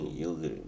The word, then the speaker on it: Yildirim: alvarez versus avenging so yeah that's the correct pronunciation of that name yielding that's just yeah if anybody was wondering i